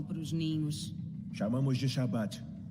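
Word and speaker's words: Shabbat: Que, na verdade, e no português tem uma melhor pronúncia, onde o trechozinho que eu mostrei, ele diz é o Shabat. Essa expressão, ela vem do hebraico. A palavra sábado, o descanso, na língua hebraica, é Shabat.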